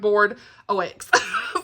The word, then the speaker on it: Bordox: They say like Board OX. That's how they say it.